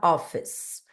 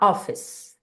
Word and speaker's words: office: igual aqui na palavra Office palavras terminadas com a letra e né E que vem depois de uma consoante o e não pronuncia Então vai falar a gente vai falar office office a mesma coisa